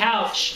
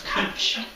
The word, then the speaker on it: Couch: Okay, I was just And it's always not saying Couch Street, it's Cooch.